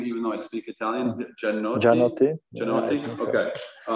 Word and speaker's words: Gianotti: And I forget how to pronounce her last name, even though I speak Italian. Gianotti?